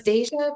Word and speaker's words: Deja: correctly the first time it's deja but it's pronounced like like if you were saying Deja Vu it's kind of the same deja vu all over again okay Deja okay